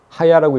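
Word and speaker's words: היה: 스스로 있는 자, 우리말로 스스로 있는 자라고 번역해 놓은 이 단어는요, 지금 하야입니다. 하야라고 읽는데 하야 동사입니다.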